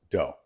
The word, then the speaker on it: Doug: The G is silent. If you don't mind, my family's always gone with dough, but I appreciate it.